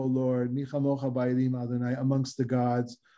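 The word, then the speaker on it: מי כמוכה: we go, Mi chamocha, the kaf of kamocha is without a dot, mi chamocha, because the syllable before, the E, is considered a long syllable, O and E, as opposed to A and E. And so that when you have an E in the syllable beforehand, the next consonant is a soft one.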